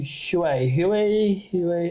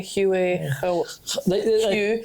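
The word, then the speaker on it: Huế: we went off to hu hu hu I can never Hue Hue it's spelled Hue like a like a color like the Hues yeah but it's not pronounced that way and that's a really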